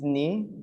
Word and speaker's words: knee: This is knee. You don't pronounce the K.